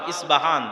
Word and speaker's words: ইস্পাহান: আমরা প উচ্চারণ করি ইস্পাহান আরবিতে এটা উচ্চারণ হয় না আরবিতে হয় আল আসবাহানি বা উচ্চারণ হয় ইসবাহান বাসবাহানি সেখান থেকে 70